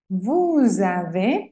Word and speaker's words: vous avez: Vous avez. Pasa igual, hacemos la liaison. Y la Z final no se pronuncia.